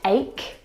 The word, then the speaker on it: ache: Words like stomach and ache. The CH in all of these words is pronounced like a K sound.